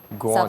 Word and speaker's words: grande: Grande. Ça se prononce grande. Not grande, eh?